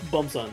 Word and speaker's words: Beom-san: Fun fact: Beom-san apparently pronounced Bumsan.